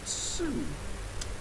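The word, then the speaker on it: Sioux: Uh uh the way I was pronouncing CX is apparently pronounced Sue.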